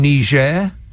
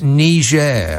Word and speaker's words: Niger: then tanzania then and niger that's not how you uh think it's pronounced donny it's it's niger oh shut up then